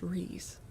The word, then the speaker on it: Rhys: So it would be, but yeah, Rhys, I know that is pronounced Rhys.